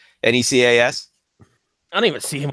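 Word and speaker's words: Nečas: We got to be Nekash. That's how you pronounce that. Martin Nekash, Necas.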